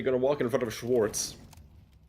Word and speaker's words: Schwarz: This one gonna get broken up, but nobody gonna walk in front of Schwartz. Or Schwarz, if you want to pronounce it the German way.